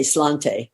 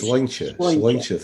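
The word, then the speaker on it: sláinte: It's spelled Slainte. So a lot of people say slante, but it's wrong. It's Sloincha.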